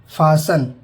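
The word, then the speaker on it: fasten: टी, अगर किसी शब्द के अंत में TEN हो तो टी साइलेंट होता है। एग्जाम्पल देखिए, हेसन, जल्दी करना। ऑफन, अक्सर। हसल, धक्का देना। फासन, बांधना।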